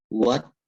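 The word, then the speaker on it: وَالتِّينِ: Jadi huruf alif lam tidak dibaca. Kalau anak-anak waktu mengaji metode Iqra, itu ada istilahnya itu alif lam dianggap tidak ada. Nah, jadi cara membacanya bagaimana? Cara membacanya adalah huruf wa ini langsung bertemu dengan huruf ta yang ada tasdidnya. Jadi membacanya wat-tini.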